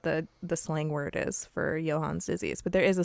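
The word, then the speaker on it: Johne's: So the last one is Johann's disease, and it's spelled like John's disease, but it is definitely pronounced Johann's.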